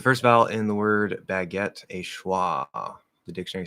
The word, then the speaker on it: baguette: an odd sound uh so it would be a fourth vowel ah like cat baguette um however the stress is on the second syllable so fully enunciated baguette um which is we